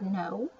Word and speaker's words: know: center Center this is like the word no the K is silent this is new like